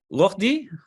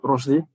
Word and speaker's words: Roshdi: I see Rohdi, am I pronouncing that correctly? Yeah, it's Roshdi.